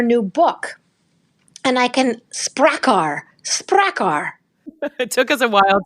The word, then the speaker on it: Sprakkar: We talked about her new book, and I can Sprakkar. It took us a while to figure out how to say it. It's Sprakkar, and it's Iceland's extraordinary women and how they are changing the world.